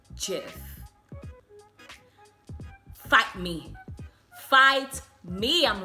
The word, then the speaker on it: GIF: for sure is that it is not pronounced gif it's pronounced jiff fight me fight me